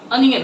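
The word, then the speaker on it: onion: कई लोग प्याज को इंग्लिश में ओनियन कहते हैं, तो इसको ओनियन नहीं कहेंगे, इसका सही प्रोनाउंसिएशन क्या होता है, अनियन होता है। इसलिए हम लोग आपसे जब भी हम लोग पढ़ना होगा ओनियन नहीं पढ़ेंगे, अनियन पढ़ना है उसे, ठीक है।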